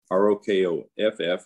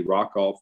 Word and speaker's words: Rokoff: is cough r-o-k-o-f-f and if i say rock off please forgive me uh that's the way i pronounced the name when i was quite young i first read this and old habits sometimes a hard part to bypass but rokoff is our